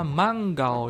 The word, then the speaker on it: manga: bentuk satu contohnya ada manggao yomu manggaoya membaca komik nah inian harus perhatikan ya kalau ini bacanya adalah mangga ya jangan minasan baca manga manga gitu Ya itu salah ya salah besar Awas nanti kalau baca